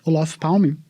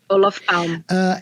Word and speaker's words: Olof Palme: É assim que pronuncia o nome dele? Olof Palme? Olof Palme.